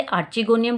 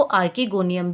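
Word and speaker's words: archegonium: तो मेरे हिसाब से इसे आर्चिगोनियम बोलना चाहिए, इसलिए मैं इसे आर्चिगोनियम बोल रही हूँ। बाकी मैंने कुछ टीचर्स को सुना है वो आर्किगोनियम भी इसे प्रोनाउंसिएट करते हैं।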